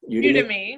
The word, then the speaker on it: Udemy: How do you say Udemy, it? yeah. Udemy.